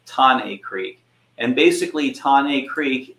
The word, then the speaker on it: Thane: a place called tane Creek it looks like Thane Creek but we could but it is pronounced ton a creek and basically tane Creek is uh an